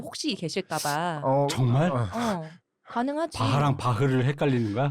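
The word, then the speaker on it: Bach: 알기로는 한국에서는 바하라고 표현을 하고 아마 원어 발음엔 바흐 뭐 이런 느낌이 되겠죠 아마.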